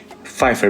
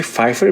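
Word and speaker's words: Pfeiffer: याद रहे कि फाइफर बीच में पी साइलेंट है।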